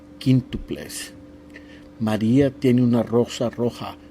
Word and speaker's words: quíntuples: When you see the Q and the U, you do not pronounce the U. Quique, quíntuples.